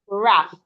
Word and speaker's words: rough: If you have the word r o u g h, it sounds raf raph.